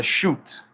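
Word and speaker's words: chute: It's one of those stupid things in the English language where it's a ch but it's pronounced sh it's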